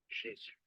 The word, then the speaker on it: Jésus: Spanish, Jesús, Jesús, French, Jésus, Jésus.